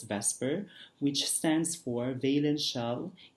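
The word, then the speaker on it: VSEPR: model all right so it's v s e p r but it's pronounced as vesper which stands for valence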